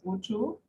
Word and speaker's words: Ojo: My last name is pronounced Ojo.